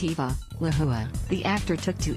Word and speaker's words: Eva: he and his wife, Ahiku, have named Eva, pronounced Eva, Lahua.